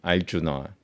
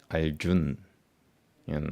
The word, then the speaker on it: Arjuna: So instead of saying Arjuna, they call me Arjun. And I was like, what the hell? And I was like, don't you see that it's not n, it's Arjuna, na.